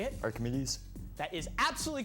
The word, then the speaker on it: Archimedes: Anton I'm gonna make a wild guess uh remedies say it Archimedes that is absolutely correct for 10 points which